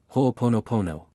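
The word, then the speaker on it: ho'oponopono: you I love you it is pronounced in the following way ho ponopono this is an excellent Mantra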